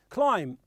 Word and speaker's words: climb: like calm for example climb climb means gotta sell look so the B is silent that the T at